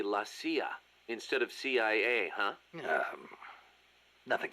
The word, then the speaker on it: CIA: here they say la Sia instead of CIA huh nothing strange about it that's how it's pronounced when you read it in Spanish it has the feminine